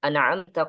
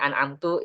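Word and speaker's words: أنعمت: Baca alhamdu dan an'amta jangan sampai ada qalqalah. Ya sini sering terjadi nih. Alhamdulillah an'amta gitu ya. Oh ya, kalau bacanya an'amtu itu nanti bisa diimam keliru nih. Bacaan an'amtu. Itu makmum gak ada yang benerin maka sholatnya itu gak sah ya. An'amtu nanti kacau itu maknanya.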